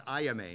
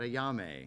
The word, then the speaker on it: Ayame: Yeah, we have to remember how to pronounce Ayame, not Ayame, you know.